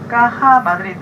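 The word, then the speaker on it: Caja Madrid: 그래서 보면은 가다가 초록색 곰, 까하 마드리드라고 읽으시는데, 까하 마드리드, 그 다음에 택시의 엉덩이 부근에 아니면 옆에 부근에 보면은 다 곰 마크가 돼 있어요.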